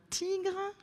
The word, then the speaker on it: tigre: Un tigre, très bien, on entend G dans tigre.